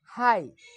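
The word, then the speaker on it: high: এখানে আমরা আরেকটা যদি তোমাদেরকে উদাহরণ দিই এইচ আই জি এইচ, উচ্চারণটা তোমরা কী করবে হাই, কারণ এখানে আমরা জানি জি এজ উচ্চারিত হবে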